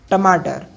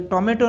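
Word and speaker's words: tomato: Next word है टमाटर, जिसको हम टोमेटो कहते हैं, तो ये टोमेटो नहीं होता है। इसका सही प्रोनाउंसिएशन ब्रिटिश इंग्लिश में टमाटो। टमाटो।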